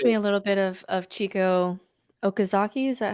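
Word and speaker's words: Chieko Okazaki: It reminds me a little bit of Chico Okazaki.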